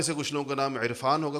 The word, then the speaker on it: عرفان: کچھ لوگوں کا نام عرفان ہوگا، کون اس کو عرفان کہتا ہے؟ عرفان کہتے ہیں، حمزہ سے کہتے ہیں۔ تو ہم عین کا تلفظ کرتے نہیں ہیں، حالانکہ لکھتے ہیں، کرتے